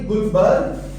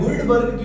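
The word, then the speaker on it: Guldberg: अब आप कहेंगे कि सर ने इसको गुलबर्ग कहा है। गुल्लबर्ग क्यों नहीं कहा? तो इसमें डी साइलेंट है और जो डी साइलेंट है उसमें मेरा कोई कसूर नहीं।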